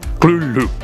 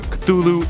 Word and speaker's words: Cthulhu: It should be noted that Lovecraft originally intended the name to be pronounced closer to Cthulhu, because it originates in an alien language that can't be properly spoken by humans. However, the easier form, Cthulhu, is more prevalent, so that's what I'll be using in this video.